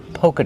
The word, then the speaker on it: polka: Polka dot. Not polka dot. The L is silent. We don't say polka dot. We say pol. Polka. Use a long O like no. And go.